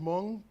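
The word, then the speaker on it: Hmoob: There's one on Sherman called, I think it's called Hmong, but it's spelled H-M-O-O-B. Is that pronounced? I don't know if I'm pronouncing that right, but someone told me that was right.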